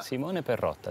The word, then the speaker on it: Simone Perotta: Simone Perotta, sì.